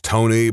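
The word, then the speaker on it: Toeknee: I know a guy whose name is Tony, but it is spelled to that is so freaking dumb. No, that's the worst name. That's the worst name. For a smidgen of context, for those of you who maybe don't understand, their name is spelled T O E K N E E.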